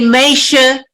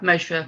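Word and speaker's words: משה: Okay, not all Litvaks use that pronunciation. Where in Lita is his family from? Sein Gewinn von Shovel. Shovel. Yeah. They say Meisha. Right. Yeah, Meisha. Yeah, right. Okay. Not Moshe.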